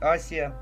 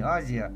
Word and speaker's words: Азия: Африке по всей Азии а правильно говорить Асия вот на по-моему на англоязычных картах до сих пор на некоторых сохранено истинное название не Азия а Асия вот также ж вся